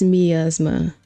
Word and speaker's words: miasma: Miasma pronunciation. Oh, you know, it is miasma.